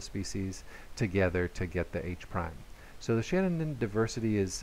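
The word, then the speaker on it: H′: H with an apostrophe behind it is pronounced H-prime.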